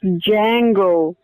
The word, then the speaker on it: Django: in it the worst movie ever saw was Django that me is silent that wasn't awful that was a good